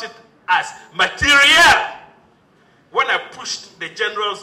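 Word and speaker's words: materiel: They pronounce it as material. when I pushed the generals who had accompanied the minister, that was the pronunciation they offered. They said material.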